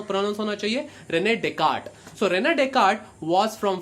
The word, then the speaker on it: Descartes: Nami Rene Descartes the the spelling of this is such that child Hamas to pronounce s occurring here in a desk artist but when a desk artists is the wrong pronunciation hoon Konami soprano no